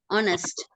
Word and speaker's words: honest: know the term silent what is meon man honest honest what the first sound children what the